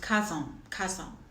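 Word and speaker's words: cazón: So it's pronounced carzon, just to correct that, okay?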